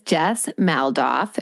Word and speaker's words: Jess Maldoff: Yes, her name is Jess Maldoff.